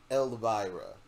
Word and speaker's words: Elvira: Elvira. Vira, like viral infection. Elvira.